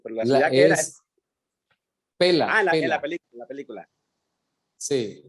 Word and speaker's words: Pella: Pela. O se escribe Pella. pero es pela, Freddy.